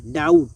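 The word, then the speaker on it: doubt: ডাউট, সন্দেহ। অর্থাৎ এই ওয়ার্ডগুলোকে যদি আপনি খুব ভালোভাবে খেয়াল করেন, এখানে দেখবেন বি রয়েছে কিন্তু তারপরেও বি সাইলেন্ট অবস্থায় রয়েছে, অর্থাৎ বি এর কোনো উচ্চারণ হয়নি।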